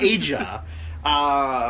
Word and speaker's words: Aja: From earlier today of Dale Torborg doing his entrance with his wife, pronounced by Tony Schiavone as Aja. Or Aja? Aja? Yeah, Aja. Because, it's not just Asia.